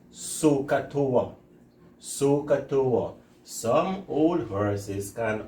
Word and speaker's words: SOHCAHTOA: I hope we can pronounce this word. And what they say is sokatoa.